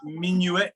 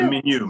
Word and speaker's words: Minuit: will be Andrew Welch, featuring Charpentier's Messe de Minuit pour Noël. I do not speak French, so. Nice, good job there. Messe de Minuit, yeah. The Falmouth Chorale requires. Minuet, is it minuet? Minuet? It's Messe de Minuit, Minuit, yeah, pour Noël.